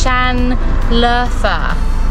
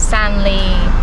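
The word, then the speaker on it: Şanlıurfa: cool also just Googled how to pronounce the town so it's Shan lover not Stanley Stanley Arthur so Shan leather you're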